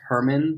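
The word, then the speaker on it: Germán: issues that right now his name is actually pronounced Herman which nobody knows except for us and our editor Darren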